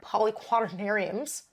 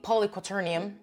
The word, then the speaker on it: polyquaternium: one of my preferred poly quadarius polyquaternium have I been saying that wrong narium oh my God so it is fully polyquaternium and I have been saying it wrong for years but at the same